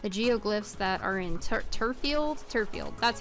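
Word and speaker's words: Turffield: The geoglyphs that are in Turfield, that's how you pronounce that, Turfield town.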